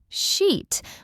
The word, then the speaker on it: sheet: That long I sound versus the short I sound can completely change the meaning. So remember, sheet with a long vowel is perfectly fine.